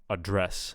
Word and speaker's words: address: So conduct or record or address. I will address the nation. But when it's a noun, the stress will be on the first syllable. So conduct, record, and address.